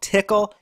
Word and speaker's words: Tcl: and Nifty scripting language it's also called tickle you know we've come